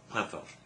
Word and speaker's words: Chwefror: Yeah, 2 R's and a ch in it. It's quite hard to pronounce, but Chwefror.